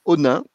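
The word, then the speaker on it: Onnaing: Toyota Europe TME a construit à la fin du siècle passé une usine à Onin. Onin c'est ça s'écrit O N A I N G.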